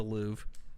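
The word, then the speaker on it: Louvre: I didn't say n Lou is what I said it's just the Lou oh is it really no r you don't pronounce it it's there but the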